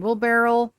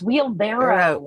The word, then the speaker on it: wheelbarrow: Uh there is a broken wheelbarrel and yes, I said that correctly. Um there is a table with shields. Wheelbarrel. No, it's wheelbarrow.